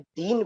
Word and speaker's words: दीनु: है कि व्याकरण अनुसार जो भी ऊ की मात्रा है आखिरी शब्द में, जैसे दीन है नीचे ऊ की मात्रा है या छोटी की मात्रा है, उसका हमने उच्चारण नहीं करना है।